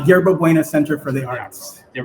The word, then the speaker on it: Yerba Buena: It's part of a project called Future Proof um, which he originally created for Werebove Center for the Arts. Am I pronouncing that correctly? Uh, Yerba Buena Center for the Arts YBCA.